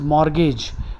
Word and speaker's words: mortgage: But for the big ones, it is mortgage, M-O-R-T, the T is silent, G-A-G-E.